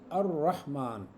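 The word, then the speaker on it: الرحمن: अब यहां पर अल लाम नहीं प्रोनाउंस होगा। यहां पर हम पढ़ेंगे अर रहमान। लाम को प्रोनाउंस किए बगैर अगले को शद कर देंगे।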